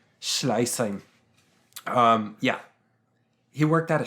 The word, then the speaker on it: Schleißheim: Schleißheim? Schleißheim.